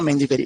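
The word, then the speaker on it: mangiferae: प्रोपीकोनाजोल्ट Karathane या प्रोपिकोनाजोल्ट ओडियम मेंजीफेरी या मेंजीफेरा मेंजीफेरी लिख लो चलो वो क्या है पीछे स्पेलिंग में आर ए इ होता है ना तो मेंजीफेरी सेकंड इसमें एक बीमारी लगती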